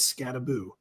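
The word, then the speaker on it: Skattebo: It is Scataboo. We've never been more back. someone actually pronouncing their name the cool way for once.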